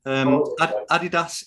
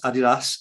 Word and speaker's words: Adidas: You can maybe tell us later how we're supposed to pronounce it. Clarks and various others. It's said differently all over the globe, Terry. Adidas is how they want you to say it.